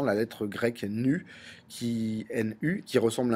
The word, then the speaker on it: nu: depuis depuis longemps la lettre grecque nu qui n U qui ressemble à un V mais qui correspond enfin qu'on prononce en tout cas nu 1801 Thomas Yang